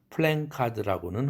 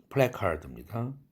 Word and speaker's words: placard: 플래카드라는 말을 굳이 현수막이라는 단어 안 쓰고 싶다면 플랜카드라고는 하지 마세요. 플래카드입니다. 철자가 엥 모음이 없습니다. 자음이 없습니다. 엥 사운드는 플래카드.